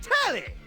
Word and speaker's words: Telly: The name's Telly. Rhymes with Nelly, like...